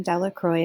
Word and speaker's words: Delacroix: new characters orange okay villagers pronounced his name de la croix eventually made a pile